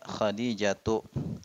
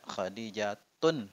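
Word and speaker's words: خديجةُ: contoh lain lagi misalnya khadijatu aisyatu zainabu maryamu ya nama wanita termasuk IGM sehingga tidak Dit tanwin tidak boleh kita bacanya khadijatun itu enggak boleh ya kalau ditanya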